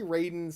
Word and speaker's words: Raiden: Marvel Comics versus um I never can say his name. Ryden. Yeah. Some I want to say Raiden, sometimes Ryden, but it's Raiden.